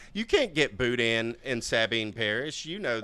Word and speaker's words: boudin: It's not Dan at the end. It's Boudin. Boudin.